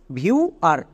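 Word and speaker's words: viewer: কিচ্ছু করার দরকার নেই, মনে রাখবা IEW, এরা তিনজন একত্রে সাউন্ড দেবে ইউ।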